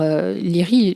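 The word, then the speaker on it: Laoghaire: découvre ces lits alors leary dans le bouquin c'est l'orthographe est très bizarre donc je je fais confiance aux doublures et d'ailleurs pour l'avoir vu en vo c'est aussi comme ça qu'on prononce donc lire issa du jeune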